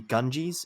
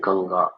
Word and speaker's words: Ganga: it all right uh I guess that's how you see it as a native English speaker but uh we use the term Ganga or maybe an Indian